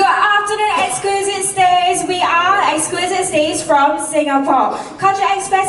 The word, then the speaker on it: EGZQUISITE: which I think is pronounced as exquisite and coming from Nanyang Poly technic.